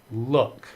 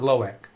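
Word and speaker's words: Loïc: appreciate that loic look oh no he uh okay he pronounces it look not lowek I am sure there's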